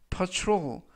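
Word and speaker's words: patrol: 이라고 발음 하시면 되겠고요 이 때 유의하실 점은 t r 발음이 춤추 그래서 퍼트 로 일하고 바람 하시면 되겠습니다 품사는 명사 뜻은 순찰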